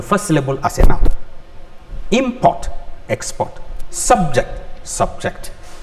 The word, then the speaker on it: import: the next one is import import a noun then the next one is import i am asking you to take an action then escort he is